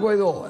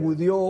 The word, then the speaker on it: Guaidó: del Mundo decir Juan guaidó el presidente legítimo de Venezuela algunos no sean pronunciar bien decían gudo guadi Pero al final era